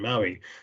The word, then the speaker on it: MAUI: than empower right so it's it's maui like like island in in hawaii so uh this has